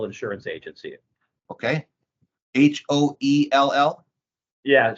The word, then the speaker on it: Hoell: It's a Joseph Hale Insurance Agency. Okay. Hoell? Yeah, so it sounds like Hale, but it's Hoel, Hoell is how it's spelled.